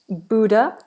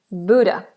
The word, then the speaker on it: Buddha: Buddha, and it's pronounced B-O-O kind of sound, Buddha, rather than Buddha.